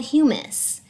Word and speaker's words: humus: plants and animals called humus. So it's spelled like hummus, and if you go to the grocery store and you've ever had hummus and it's delicious, humus is totally different.